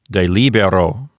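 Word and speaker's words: delibero: So the penult is not long, and so the accent moves over to the antepenult, which is LI. So this word will sound like de libero.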